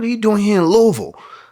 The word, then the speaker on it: Louisville: What are you doing here in Louisville?